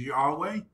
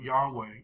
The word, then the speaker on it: Yahweh: And that's why in the Old Testament, God's covenant name is Yahweh. Some people pronounce it Jehovah.